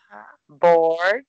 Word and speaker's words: board: É a mesma pronúncia de board entediado.